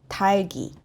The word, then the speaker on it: 닭이: However, when it encounters 이응 at the back, 닭이, no, 달기, 달기. So here, 리을 stays and 기역 goes to the back.